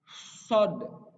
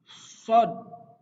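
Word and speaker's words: ص: Pelafalan huruf short harus pipinya harus mengembang. Jadi harus ditahan terlebih dahulu. Short. Disimpan anginnya di bagian pipi, bagian kanan dan bagian kiri di dalamnya gitu ya. Sod. Sod.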